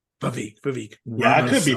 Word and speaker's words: Vivek: And his first name, how do you pronounce it? Vivek. Vivek.